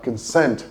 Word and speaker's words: consent: It's on the second syllable, so you have consent. The schwa sound in the first vowel and then sent that takes the stress. So, consent. That's the correct pronunciation.